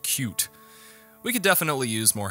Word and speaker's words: Qt: But if you know C++ and the widget toolkit Qt, or I think you're supposed to pronounce it cute, we could definitely use more help, so come on down to the forums and introduce yourself.